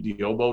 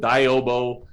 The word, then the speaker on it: Diyobo: affinity that came with the name diyobo nobody could spell it everybody called it diobo and so we rebranded